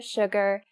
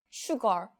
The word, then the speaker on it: Suga: I I first when I saw the Korean name Suga, I thought this sugar, but it's not sugar. It's just sugar. I'm assuming because it sounds more like a rapper name than Sugar.